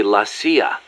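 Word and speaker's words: La CIA: around here they say laia instead of CIA huh um nothing strange about it that's how it's pronounced when you read it in Spanish it has the feminine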